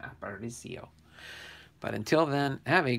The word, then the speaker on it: Aparicio: Okay, Luis Aparicio, I think is exactly how you say his name, Aparicio.